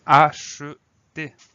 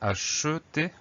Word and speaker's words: acheter: à écrire parce que parfois on va prononcer acheter, donc che, et parfois, comme dans tu achètes, on va prononcer le son avec le son e.